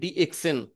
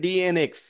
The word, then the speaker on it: DXN: করতেছেন ডিএক্সএন 3টে শব্দ, এখনো অনেক লোক আছে যারা ডিএক্সএন উচ্চারণ করতে পারে না, বলে ডিএনএক্স। এত সুন্দর করে লেখা আছে ডি, তারপরে এক্স, তারপরে এন, কিন্তু তার উচ্চারণ করে কি ডি এন এক্স। ভাই কেন আপনি উল্টো উল্টো করে উচ্চারণ করেন? শুদ্ধ করে উচ্চারণ করেন, ডি এক্স এন, ডি এন এক্স উচ্চারণ করার কি দরকার? এটা প্র্যাকটিস করবেন, যারা পারেন না অবশ্যই প্র্যাকটিস করে নেবেন যে ডি এক্স এন, ডি এন এক্স না।